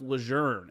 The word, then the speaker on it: Lejeune: a change, or like, it's actually pronounced Lejeune. It's John A. Lejeune. Someone started pronouncing his name incorrectly at some point and it caught on.